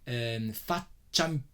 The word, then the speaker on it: faccia: I want just to point out another thing, which is faccia impressa. I didn't show you there. There is an I and an A. Faccia, that I is mute. It's not pronounced.